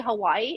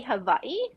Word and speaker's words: Hawaii: mostly most people say Hawaii right uh but true Hawaiians um call Hawaii Hawaii because the W's in Hawaii is pronounced like a V so every word instead